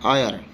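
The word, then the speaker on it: heir: Sound दे रहे हैं एज the initial consonant H इज not pronounced, कि जो हमारे पास इनिशियल वर्ड एच है या एच लेटर है उसको प्रोनाउंस नहीं किया जा रहा है।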